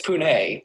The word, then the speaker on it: Pune: city where the people can agree on the pronunciation of the city's name. And the name is Pune. Pune. It's Pune.